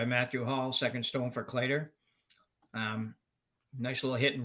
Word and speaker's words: Kleiter: Hall second stone for cler um nice little hit and roll is CER it's not cler I I've always pronounced it CER and I've never been corrected so we'll go with